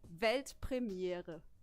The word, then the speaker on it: Weltpremiere: It's actually Weltpremiere.